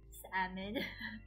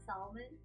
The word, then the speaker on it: salmon: So, salmon, salmon, salmon. Dre, don't bully Kimmy. Yeah, Malaysians pronounce the L in salmon.